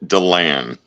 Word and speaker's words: Delan: You pronounce it Delan, but like I've said many of times, my wife only says it right when she's mad.